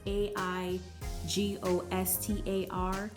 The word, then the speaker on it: Aigostar: I believe it's pronounced either Aigostar or Aigostar. It's Aigostar.